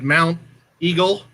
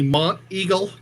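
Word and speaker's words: Monteagle: uh correcting me because i said mount eagle he said it's supposed to be mont eagle because of the accent yeah oh god it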